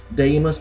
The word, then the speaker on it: Deimos: nameless spin the things how that's how you pronounce it day must die must spin and um this move is